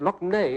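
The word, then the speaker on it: Lough Neagh: Loch Ney, it's pronounced, but that's the one.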